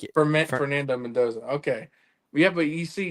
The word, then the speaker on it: Fernando Mendoza: How do you say I can't I can't pronounce it. It's a Fernando Mendoza. So, like Fernando Mendoza.